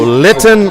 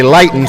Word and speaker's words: Linton: So Linton Orage. I was going to say Lighten.